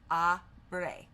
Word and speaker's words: abre: Abre is pronounced, and now it has the phonetic spelling, abre. La is pronounced la, and it has L-A-H.